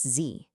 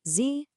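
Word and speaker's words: Sie: And that word is Z. Yep, it's pronounced Z, just like the letter Z.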